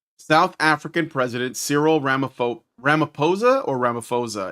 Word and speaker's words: Ramaphosa: Okay, so on May 21st, 2025, South African President Siril Ramo Ramiposa or Ramaposa, it looks like a ph sound, but I've heard it pronounced with a p.